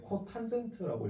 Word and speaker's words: COT: 그 다음에 마지막으로 COT라고 해서 얘는 코탄젠트라고 읽어줄 거예요.